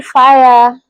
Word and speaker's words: FIA: Or call me Fire. Fire is an acronym of my name. That's FIA. Then the woman, like woman. So FIA is pronounced as fire.